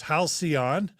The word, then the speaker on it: halcyon: And thanks to Don Smith, who's telling us that it's halcyon. Thanks, Don, for helping us with the pronunciation.